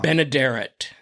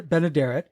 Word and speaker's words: Benaderet: country mhm and B and you'll have to pronounce her last name for me I always get it wrong benaderet B Ben benaderet she played the Banker's wife Gail Gordon's wife